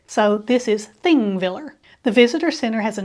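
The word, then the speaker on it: Þingvellir: is the visitors center the first letter on the sign that looks similar to a p is pronounced like th in Icelandic so this is thing Viller The Visitor Center has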